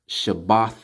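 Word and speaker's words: שבת: of atonement Sabbath year week Sabbath so it's pronounced Shabbat shalawam or shabbat shalom I have to put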